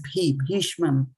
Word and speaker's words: bhīṣmam: So this is bhi. This is B and H. So it is bhīṣmam, like grandfather Bhīṣma, like that.